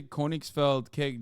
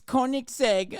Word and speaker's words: Koenigsegg: newer and they're explosive why'd you say koenigs felt cake w am I saying it wrong is that why you guys well not Corning spelled Koenigsegg oh okay whatever tuck my dick I don't know cars like that it's Koenigsegg uh shut up nerds